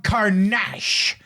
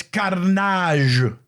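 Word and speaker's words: Don Karnage: saw the show and he mispronounced it he said I am Don carach and it's carage like Carnage Carnage come on get it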